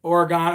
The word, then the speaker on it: Oregon: did and apparently oh somebody said pronounced oregon oregon okay my bad oregon i'm sorry somebody's somebody